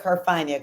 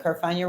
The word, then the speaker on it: Carfagna: My name is Carfagna. Carfagna rhymes with lasagna, so that should be easy to remember.